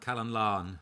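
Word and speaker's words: Calon Lân: So this song is, am I pronouncing it right? Calon Lan? Calon Lan.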